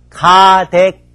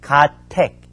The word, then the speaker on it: 가택: 자, 3번 가댁, 가택. 이럴 때는 택이라고 읽어야 되겠죠. 집택, 집댁 둘로 읽히기 때문에 도금 문제가 많이 나오거든요. 여기서는 가택이고요.